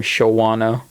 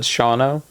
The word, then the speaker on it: Shawna: to no one and she would pronounce your name Shawano but then I think either she pronounced it correctly or someone else said Shawna and I think that